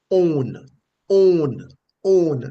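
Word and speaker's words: אוֹן: and it is pronounced own own own like how you say you know I own the car pretty much the same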